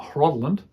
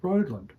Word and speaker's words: Rhodland: It's not Hrodland, it's Rhodland. And Rhodland actually has a meaning.